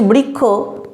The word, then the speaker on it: বৃক্ষ: এখানেতে তাই না বা আমরা যখন বলছি বৃক্ষ আমরা যখন উচ্চারণ করছি খ তখন সেখানেতে কিন্তু মূল ইয়েতে যুক্তবর্ণতে খ এর কোন বৈশিষ্ট্যই নেই অর্থাৎ উচ্চারিত রূপ আর